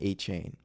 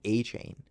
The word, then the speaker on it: Achane: The announcers on that game were pronouncing it A-Chain.